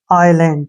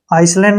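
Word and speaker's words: island: एन का उच्चारण न हो गया डी का उच्चारण डे आइलैंड क्या पढ़ेंगे इसको आइलैंड आइलैंड क्या होता है टापू ठीक है ना आइलैंड जो समुंद्र के बीच में बने होते हैं ना उसको आइसलैंड नहीं पढ़ना इसको ध्यान रखना है आई और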